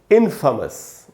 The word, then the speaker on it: infamous: इसका उच्चारण होता है दोस्तों इनफेमस, इसको इनफेमस नहीं बोलेंगे, इन, उसके बाद देखें अगर आप यहाँ फ के बाद आधा अ लिखा है, यानी फ पर थोड़ा सा रुकना है, और उसके बाद